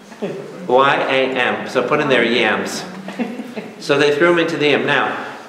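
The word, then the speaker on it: ים: This is a yam. Y-A-M. So put in there yams.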